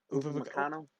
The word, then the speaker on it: Upamecano: How do you pronounce his name? Upamecano.